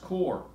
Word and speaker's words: QoR: today and I use Coar watercolor qo are it's pronounced core a core watercolor is